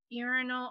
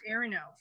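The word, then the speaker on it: Iarno: have heard of him did you say his name is urinal you're no oh sorry that's what I heard too I was just gonna say that they were very cruel parents involved Aaron no i-a-r-n-irono and I'm still learning the pronunciation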